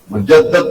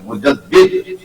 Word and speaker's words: مجدد: سارے بولے ہمارے مجدد، پروننسیشن تلفظ ٹھیک ہونا چاہیے، مجدد لفظ غلط ہے، مجدد، مجدد کہتے ہیں تجدید